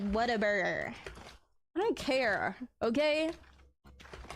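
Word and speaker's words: Whataburger: Waterburger. Yeah, that's how uh some people get mad. It's like what a burger. You got to say it like what a burger.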